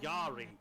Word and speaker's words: Jari: It's Jari Van Binsbergen. I've been saying Jan all night.